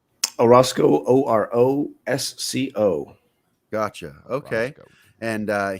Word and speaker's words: Orosco: How do you spell your how do you pronounce your last name, buddy? Orosco. Orosco, Orosco.